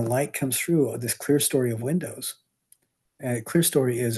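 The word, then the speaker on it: clerestory: these all these windows that that's called the clear story of windows and it's spelled C L E R E S T O R Y.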